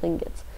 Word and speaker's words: lingot: It's a play on lingo and ingot, I'm pretty sure. Lingo and ingot. And you get lingot, which rhymes with ingot.